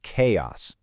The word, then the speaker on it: chaos: Put it together and you get chaos.